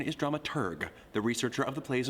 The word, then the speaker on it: dramaturg: Pronunciation is dramaturg, the researcher of the plays and operas being put on.